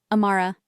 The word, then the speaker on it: Amara: He said my name slowly, clearly. Amara. A-ma-ra. 3 syllables.